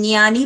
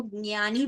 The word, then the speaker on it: ज्ञानी: Actual इसका pronunciation ज plus य इज इक्वल टू ज्य ही होता है।